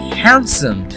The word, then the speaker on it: handsome: you're actually saying beige is an here okay handsome look handsome no this handsome Haan and the